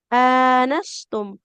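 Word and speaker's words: آنستم: Anastum. Hamzahnya berharokat fathah. Di depannya ada alif, maka panjang juga.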